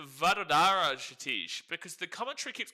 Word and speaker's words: Vadodara: By the way, how do I pronounce Vadodara, Shatish? Because the commentary keeps calling it like Vadara. So it's like the D-O-D, the O and D means nothing, and it's just Vadara, but there is an O and D in the middle.